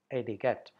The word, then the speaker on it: etiquette: hear people say hey to Cote it's not etiquette II it's etiquette etiquette polite behavior we need professional etiquette to be